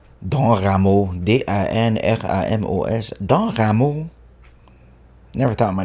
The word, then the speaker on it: Dan Ramos: And I grew up in Montreal, so the teachers would pronounce it Don. Dan Ramos, D-I-N-R-I-M-O-S, Dan Ramos.